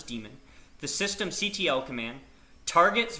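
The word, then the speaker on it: daemon: In our next session, we're going to go over boot sequence, the systemd Damon or demon, sorry, the systemd demon, that's pronounced as demon, the system ctl command,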